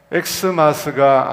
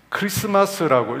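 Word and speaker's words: Xmas: 이 크리스마스가 엑스마스가 아니라는 것은 아마 다 아실 겁니다. 이 영어 알파벳의 대문자 X처럼 영어 알파벳이 아니고 고대 헬라어 이 그리스도라고 하는 첫자를 따서 온 말입니다. 그래서 표기는 마치 X처럼 하지만 읽기는 크리스마스라고 읽어야 됩니다. 엑스마스라 읽으면 안 되고요. 크리스마스라고 그렇게 읽는 것입니다.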